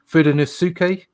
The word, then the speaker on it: Fudenosuke: It's Fudenosuke.